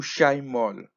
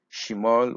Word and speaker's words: CHY Mall: Chacun prononce comme il sent en fait. Il s'agit en fait d'un sigle en anglais, c'est-à-dire CHY. Voilà exactement, CHY mol. Voilà, donc indifféremment, je vais prononcer Chimol ou bien Chaimol indifféremment dans cette présentation.